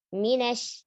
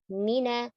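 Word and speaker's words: من: Minash, mina, nunnya tipis. Tidak mino, minos. Dan jangan banyak ke hidung. Mina, huruf mim dan nun kalau berharokat, gunnahnya angkos. Dikit sekali. Tidak mina, tapi mina syaitoni.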